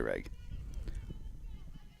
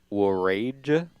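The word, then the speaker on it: Wrage: bring up danica reg i'm positive i'm saying that last name wrong well when is it w-r-a-g-e wait wait w-r-a-g-e reg i'm gonna say reg danica swings through strike one are you sure it's not war rage no but it's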